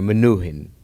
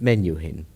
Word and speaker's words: Menuhin: three-syllable word since then the Russians and Far Eastern peoples still retain the or manuhin with the accent on the U and the more Western peoples is the American continents pronounce it menu in and being a great